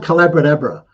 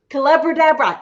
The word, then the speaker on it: Collaboradabra: It's called Collaboradabra. Collaboradabra, and it's the magic. It's called Collaboradabra. It rhymes with abracadabra because I was teaching collaboration.